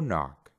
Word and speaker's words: knock: después tiene una n solo Vamos a pronunciar la n y no vamos a pronunciar la k por ejemplo no que